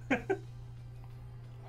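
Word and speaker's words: Juh: just people couldn't fucking spell, and that was how they spelled mosquito.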